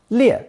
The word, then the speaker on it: 裂: Pronounced fourth tone, 裂, 裂.